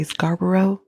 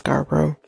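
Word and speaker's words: Scarborough: and know the story you might hear Americans say Scaro it's Scaro Scaro rapist that's how he started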